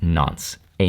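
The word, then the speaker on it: nonce: how to pronounce so I just say no I don't think that's how you pronounce it unless you're Italian I think it's pronounced non a number used only once now the downside of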